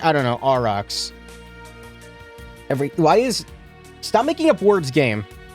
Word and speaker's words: Aurochs: I don't know why my brain said Orokas. I guess, like, it overpronounces the H. I don't know, Aurochs.